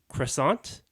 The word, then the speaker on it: croissant: No, but how do you say it? The English way. So croissant. Croissant. Croissant. Croissant. I like to say it the French way.